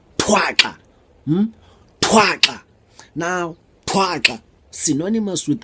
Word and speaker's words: Thwaxa: Thwaxa, pronounced as thwa-xa, thwa-xa.